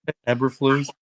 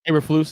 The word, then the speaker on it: Eberflus: Can you pronounce the new coach's name? Uberflus, what his name is? Kris? Yeah, Matt Eberflus. Eberflus, yeah.